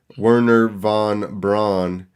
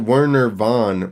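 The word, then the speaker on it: Wernher von Braun: which I did know Werner Von Braun which is weird how is it Werner Vaughn when the first one starts spelled with a V also so it should be Werner Juan Braun not right some German stuff so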